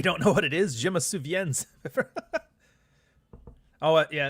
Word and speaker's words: je me souviens: So, yeah, je me souviens. Don't pronounce the S.